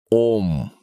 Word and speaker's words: АУМ: мысль миру высшему 189 троичное созвучие произносится как ом буквы сливаются но и основы и